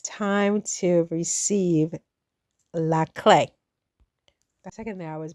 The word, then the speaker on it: clé: So, the word of the day today, still in the renting an apartment in Paris series on the Marin Chronicles is la clay.